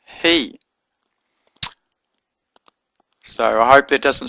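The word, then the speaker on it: הִוא: Genesis to Deuteronomy, and it has a little cherek at the bottom, so you know to pronounce it he and not who.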